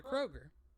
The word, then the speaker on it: Kroger: want to point out Kroger does not have an S anybody that says Kroger's you're wrong and I despise you it is Kroger and it's honestly pronounced K Roger but you know whatever